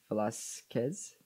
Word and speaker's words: Velasquez: Oh, by the way, Velasquez is pronounced Velasquez. The K, the Q-U-E-K, is pronounced like a K in Spanish.